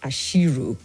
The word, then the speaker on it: Asiru: My name is pronounced as Ashiru.